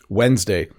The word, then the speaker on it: Wednesday: it's a silent B Wednesday so this is a weird one because the order of the D and the N get flipped when you say it I say Wednesday Wednesday